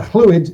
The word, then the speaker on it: Lloyd: Yeah, fluid is the Welsh pronunciation. Double L is a soft, unvoiced L in Welsh.